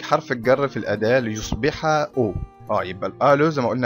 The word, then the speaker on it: aux: وتخلي بالكم من حاجة برضو، ان الـ AU والـ AUX نفس النطق، ما اقولش OX غلط، اقول دي O، انما اقول دي O ودي O.